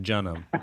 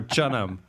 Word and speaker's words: Jeonnam: You both mispronounced Jeonnam. It's pronounced Jeonnam or Jeonnam, really. But I don't. You on that. It is a little bit, right? Jeonnam Dragons. It used to be CH. Now it's J.